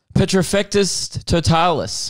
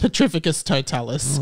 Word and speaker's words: Petrificus Totalis: wow petra oh i don't know the spell petrofectus totalis petrificus totalis okay total petrification uh okay the man yelled